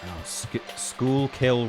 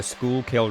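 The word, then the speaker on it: Schuylkill: Pronounce Oh, yes. Sorry. No, you're talking about Schoolill River. I live near the Schoolill River, which no one outside the area seems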